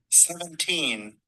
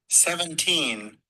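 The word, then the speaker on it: seventeen: 17. Lembrando que a última sílaba que tá, a última sílaba é a sílaba tônica. 17.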